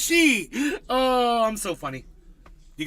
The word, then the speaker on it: Xi: Chinese president's name is she x i it's pronounced she oh I'm so funny